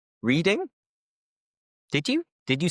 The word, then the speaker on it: Reading: I am reading a book. But the city is actually pronounced like the color.